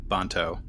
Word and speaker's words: Banto: And so he's going off to meet with his friend Banto, which unfortunately rhymes with Danto, and I didn't plan that.